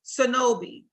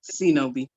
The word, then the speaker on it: Cenobie: It literally says C, no, and B.